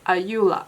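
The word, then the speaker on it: Ayura: called uh Euro um in Japan was like pronounced that as ayula and this is their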